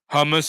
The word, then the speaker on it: hummus: from what I've learned, the H's are very pronounced in Arabic. Hummus. I think that's how you say it. There's a lot of attention or like a lot of effort into the H's in Arabic.